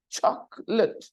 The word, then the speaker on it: chocolate: word chocolate chocolate okay chocolate the spelling confuses you but when you listen to the pronunciation chocolate choc Ock lit it there are